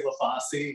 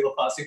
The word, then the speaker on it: Lafauci: also showed up late I'm not sure the right way to say it they always say leasi in the council meeting so I try to say leasi but they also say